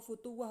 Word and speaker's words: futuwah: Fatwa itu kayaknya ya dari kata fata ya, pemuda gitu. Oh, futuwah bacanya.